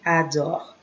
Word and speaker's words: adores: Tu adores. Don't mind the S.